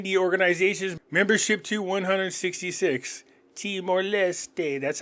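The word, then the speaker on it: Leste: and teste increasing the organization's membership to 166 teste that's how you actually pronounce it so the weird thing is that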